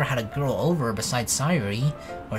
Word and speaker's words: Sayori: Yeah, I've never had a girl over besides Sayori, or Sayori. I should probably pronounce it as that, right?